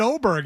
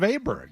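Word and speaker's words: Åberg: That's why you pronounce it Oberg instead of Aberg.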